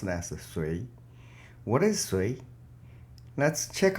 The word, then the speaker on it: Sui: The name of this hexagram is pronounced as Sui.